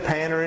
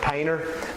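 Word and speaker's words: Panter: You can actually go to our website, Kevin Panner Insurance. Now I say Panner, we really pronounce it Painter, but don't put an I in it.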